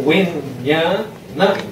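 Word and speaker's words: viññāṇa: Vinyana we say enba. We say we pronounce nya. So vinyana, vinyanam.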